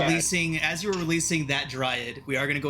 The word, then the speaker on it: dryad: sorry i like i i've always pronounced it dread and then somebody corrected me and then i went and checked google and they were freaking they had the audacity to be right and so now i'm